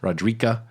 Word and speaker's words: Roderica: She can be pronounced a few different ways. Roderica is how I did it.